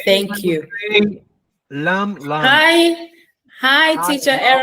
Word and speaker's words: Lammlangue: How do you pronounce that, sir? Lammlangue.